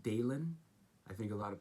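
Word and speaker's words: Dahlen: Bad Bill Dalen, and his name is pronounced Dalen. I think a lot of people think it's pronounced Dolan.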